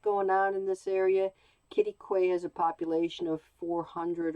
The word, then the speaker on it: Quitaque: rock canyon state park let me see if i get this get this correct kitty quay kitty quay texas it's taken a while to get the pronunciation correct but that's what the locals tell me it is so this is an